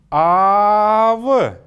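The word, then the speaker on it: аав: И теперь это же слово, подчеркивающее то, что звук или гласная «а» может быть долгой, «ав», «ав», «ав» — это отец или дедушка.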